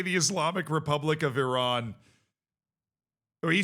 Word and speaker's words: Iran: Just hearing Shaq say the Islamic Republic of Iran. Oh, he said Iran, which is the American way to pronounce it, which which just triggered the entire country of Iran.